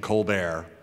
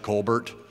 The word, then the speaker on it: Colbert: And Hebert is pronounced where the H is silent and the E is pronounced like an A. And the E-R-T is like Stephen Colbert. You know, looks like Colbert.